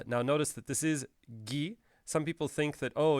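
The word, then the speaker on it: ぎ: we would write it gi as in gift and that's the only way we pronounce it this character is pronounced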